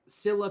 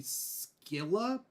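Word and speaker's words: Scylla: two Greek monsters now Cilla could also be skilla but depend but in English supposedly I was doing some research it's pronounced Cilla s-c-y-l-l-a that's how I understood it so Cilla and tribitus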